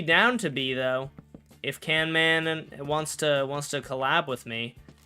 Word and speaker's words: CanMan: Little known fact, guys, but his name is actually CanMan. A lot of people think it's CamMan, but I talked to him and he told me it's CanMan.